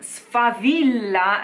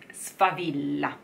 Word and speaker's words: favilla: it's fun it's fun V V Villa like my name spa Villa okay a